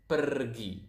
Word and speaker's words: pergi: If you guys speak Spanish out there, I think you will notice that Indonesian pronounce the R quite similar to the Spanish language. To the Spanish. So it's pergi.